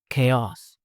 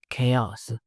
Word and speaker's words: chaos: Chaos. Chaos.